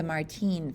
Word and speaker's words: Martín: The hastily prepared, super superficial beginner's guide to the Martín family. Hey, hold on. Isn't Martin an American-style name? Not when you pronounce it Martín and roll your R's like a fancy Spaniard.